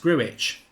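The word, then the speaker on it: Grujić: And it's pronounced Gruich, says Lewis Brown.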